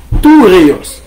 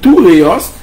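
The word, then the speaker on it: θυρεός: En allez, nous disons que ce mot, c'est-à-dire le mot bouclier, vient du grec toureos. Toureos. Comment s'écrit toureos? Toureos s'écrit T-H-U-R-E-O-S. T-H-U-R-O-S. En grec, cela se prononce toureios. Phonétiquement, c'est toureios.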